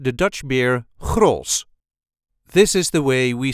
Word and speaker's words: Grolsch: accent the Dutch beer cross this is the way we say CR CR the CH at the end is never really pronounced it's just an SOS